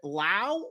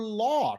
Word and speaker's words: Lau: Is it Lau or Law, Travis? It is Lau. It's a German name, rhymes with Frau.